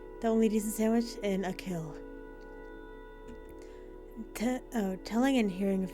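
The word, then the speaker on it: Achill: the five counties in the province of konache pronunciation I'll kill oh whoops a kill Island fitting especially because I believe we're about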